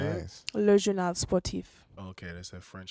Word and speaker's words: Le Journal Sportif: Le Journal Sportif.